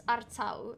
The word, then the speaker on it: Artaud: Yeah, it's Artau, if you would say it the French way.